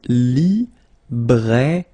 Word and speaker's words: librairie: Okay, remember I here, librairie, final not pronounced.